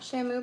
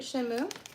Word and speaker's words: Shenmue: Not Shamu, but Shenmue.